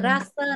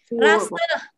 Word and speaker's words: rasa: Đó là hương vị, vị giác, chúng ta đều sử dụng cái từ rasa này. Rasa. À, ví dụ như là chúng ta không đọc là ra nhé, không phải ra, là ras.